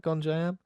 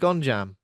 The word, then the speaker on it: Gonjiam: Would you say it like that? Gonjiam? yeah, I keep calling it Gonjam. yeah, I don't know why the I in that word has just vanished.